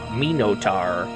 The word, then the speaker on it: Minotar: Minotar. That's how they say it.